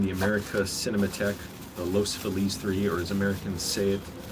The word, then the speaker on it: Feliz: america cinematech the los feliz iii or as americans save those those those i don't know what you call americans but it's a spanish word it's feliz not feliz but of course that's